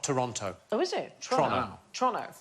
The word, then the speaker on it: Toronto: oh is it trump toronto toronto like as quick as you possibly can like it's a crime